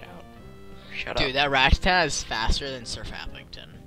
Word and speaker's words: Rattata: You're gonna send at least I'm not like Eric, who says rat-a-tat. That's what he calls Rattata. Rattatat. Just get rid of that ending T, and there you go, Rattata.